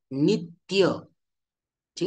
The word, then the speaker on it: नित्य: अ तर त्य मध्ये जे जोड अक्षर आहे नित्य शब्दांमध्ये त्य त्यामध्ये पहिलं व्यंजन काय आहे तर पहिलं व्यंजन आहे त त्याच त वरती आपण जोर देऊन उच्चारण करतो नित्य कसा उच्चारण करतो नित्य ठीक आहे त्याचप्रमाणे संस्था इथे सुद्धा